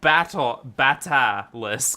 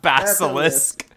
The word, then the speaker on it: Batalisk: The name, yeah, it is Batalisk, not Basilisk. There is no S in there.